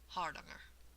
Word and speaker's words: Hardanger: But they say that the A vowels are the ah sound, like in bother or caught, or for many of us Americans, father. And the accent is here on the first syllable, so they say it's supposed to be something like hardanger.